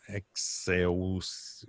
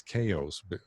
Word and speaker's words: Xaoc: not too long ago someone said well it's not excels devices it's it's chaos chaos because uh this xaoc is russian letters and then if you